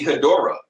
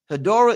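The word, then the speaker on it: Hedorah: Horra uses is how do you say that word? Her hier it could be Horra. It could be Hadora. Hadora.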